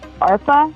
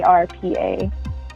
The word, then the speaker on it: Arpa: So that name that everyone calls me in the Bengali community is Arpa. It's spelled ARPA. So that's my other name. Arpa, almost like ARP, but yeah.